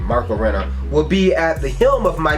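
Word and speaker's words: Renna: Writer Ryan Parrott and artist Marco Rena, that's how you say his name, Marco Rena, will be at the helm of Mighty Morphin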